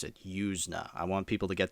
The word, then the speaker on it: Yuzna: a bit let me just say so Brian yusa that's how you say his name at first I thought it was Brian yuzna it's yna that's how you pronounce it yusa I want people to get that right because